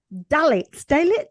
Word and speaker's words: Dalits: for people who were, there's a certain Dalits, am I pronouncing that correctly?